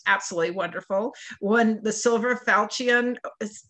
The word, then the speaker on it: Falchion: murder which was absolutely wonderful one the silver falcion pronounced that right falcion award for best cozy mystery and was a